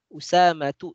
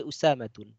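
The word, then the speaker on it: أسامة: Usamatu, tidak boleh Usamatun.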